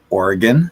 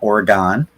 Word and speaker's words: Oregon: get to use the National Guard in Portland, Oregon, not Oregon, right?"